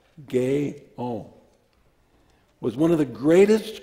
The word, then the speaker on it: Guyon: they've been to me Madame Gail pronounced gay-owned was one of the